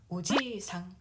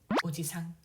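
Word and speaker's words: おじさん: 외삼촌, 친삼촌 모두 오지상, 오지상. 오지상은 아저씨란 뜻도 있고요. 발음을 보면은 할아버지 오지상과 유사합니다. 차이점은 오지상은 장음이고요. 오지상 단음이 되겠습니다.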